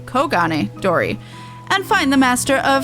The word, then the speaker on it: Kogane Dori: That's not Kugane. Kogane Dori.